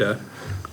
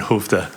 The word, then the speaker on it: Skövde: Skövde. Say it again? Skövde. Skövde. Oh, you're learning some Swedish. Yeah, you could never guess how it's spelled. It's like SKO with weird dots over it, a VDE. Skövde.